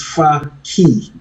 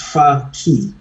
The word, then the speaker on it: Fakhi: The how it's pronounced, it's far key. It's a key that takes you far. So it's far FAR and key for opening. So it's far key.